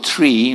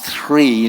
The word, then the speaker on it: three: Mais le chiffre 3, hein, moi je dis toujours tree, mais tree c'est l'arbre, non, three, j'ai la peine à dire ça, voilà, parce que c'est pas exactement le son qu'on a en français.